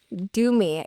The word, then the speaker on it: Dumi: Do me. Yeah. Like, do me a favor is what his dad says when it comes to pronunciation.